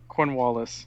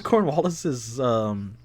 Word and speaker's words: Cornwallis: Cornwallis. Cornwallis. Okay. See, I was saying it like mixed up with everything else. So Cornhole. he goes to Cornwallis's little base with the dogs, which is Secret base.